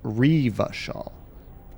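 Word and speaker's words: Revachol: Oh, it tells me right there it's pronounced Revashal.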